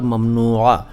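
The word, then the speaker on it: ممنوعہ: देखिए, ये शब्द जो हैं अरबी के हैं, ये मैं बता चुका हूँ, लेकिन इनका अगर सही उच्चारण पूछें आप तो होगा ममनू और ममनुआ और ममनुआत और ममनूयत।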